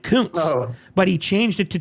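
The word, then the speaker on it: Koontz: Dean, it was You pronounce it couns.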